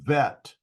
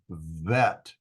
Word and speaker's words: vet: The second consonant in the second example, the right one, is a Vet, and is pronounced as a V.